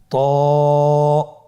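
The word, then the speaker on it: ت: হবে আমার সাথে বলুন ত আবার বলুন ত এর মাখরাজ কোন জায়গা থেকে আপনারা স্ক্রিনে দেখতে পাচ্ছেন জিহ্বার আগা সামনের উপরের দুই দাঁতের গোড়ার সঙ্গে লাগিয়ে উচ্চারিত হয়।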